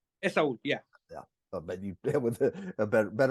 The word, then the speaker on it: Esaul: Esaul, yeah.